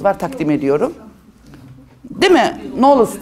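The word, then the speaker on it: Knolles: Knoles diye okunur. Knoles diye. K'yı demiyoruz. Knov oluyor o.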